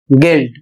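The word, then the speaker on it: guilt: अगला शब्द है जी यू आई एल टी। और इसे पढ़ा जाएगा गिल्ट।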